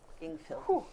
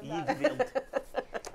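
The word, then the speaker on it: Yngvild: Ingvild. No just normal how, spelling. Just how it's pronounced. Ingvild.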